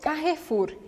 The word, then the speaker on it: Carrefour: Em francês, a gente come esse E, tá? E o R é arranhado. Então fica Carrefour, Carrefour. Você não vai pronunciar o E no meio da palavra, porque ele não tem acento, não tem nada. A gente chama ele de E pelado, então vamos fazer ele desaparecer.